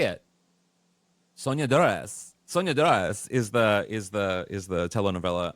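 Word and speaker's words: Soñadoras: How do I pronounce it, Michael? Oh, say it. Sonia Dores.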